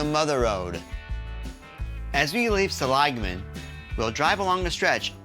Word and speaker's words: Seligman: mispronounced the name wrong it's not selan it's salagan well we'll continue on